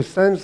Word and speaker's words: SenX: Bonjour, donc et donc je dirige la société Sense qui s'écrit SENX. Donc en réalité c'est Sense comme sensor, comme capteur, puisque notre spécialisation c'est le traitement des données de capteurs.